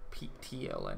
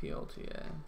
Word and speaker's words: PTLA: I always keep pronouncing it wrong. PTLA, not PLTA.